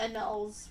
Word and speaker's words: annals: Also, it's pronounced anulls, which makes sense. Like you anal marriage. I've just never seen the word written before. I've never said it before. Anals.